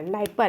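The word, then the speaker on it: Dnieper: नाइपर, यहाँ D silent है।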